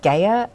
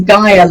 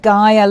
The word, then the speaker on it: Gaia: ms kirsten koftery the founder and ceo at gayer learning welcome to the show kirsten hi thank you very much for having me you um pronounce my surname perfectly but it's gaia learning is um the name of our company